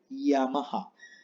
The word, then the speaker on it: Yamaha: de pianos por ejemplo se lee yamaha no se le llama a si no ya más suave ven entonces muy importante luego la h la h se pronuncia siempre tienes en japonés como una jota y nunca es muda porque la h en español es muda pero en japonés no es muda estas son las únicas